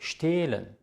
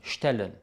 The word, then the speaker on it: stehlen: Es ist stehlen, sehen, gehen. Es ist nicht stellen, säen oder gähen. Das H macht den Vokal lang, nachdem es steht.